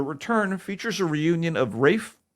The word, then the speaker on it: Ralph: The Return features a reunion of Rafe Fiennes, or Ralph Fiennes, for those of you who don't know how to pronounce his name, and Juliette Binoche, who co-starred in a little Oscar magnet called The English Patient.